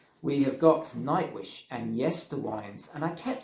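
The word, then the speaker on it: Yesterwynde: Coming in at number 9 now, we have got Nightwish and Yesterwinds. And I kept saying Yesterwinds in my review, and I apologise for that. Someone did point out it's actually said Yesterwinds.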